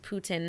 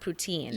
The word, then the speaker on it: poutine: It's pronounced Putin, not poutine.